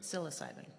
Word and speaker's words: psilocybin: How you pronounce that? psilocybin.